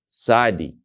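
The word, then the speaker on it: צ: And the letter Tzadi pronounces like a TS in English. The sound Tsa, Tsa. You think about TS, that's the sound that it would make in English, like the letter Tsa.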